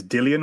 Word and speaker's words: Dillian: i get that right i always say dylan but i think it's dillian when you watch the ufc and you watch the ifl tv interviews and you kind of look at the way it's spelt right okay i think it's dillian so i want to make sure i get that right povetkin knocks out dillian